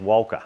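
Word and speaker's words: Wilcha: It's It's W I L C H A, but it's pronounced Wala apparently.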